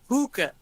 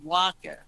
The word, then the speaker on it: Huaca: It's, you call it hookah. It's waka. Waka. Yes.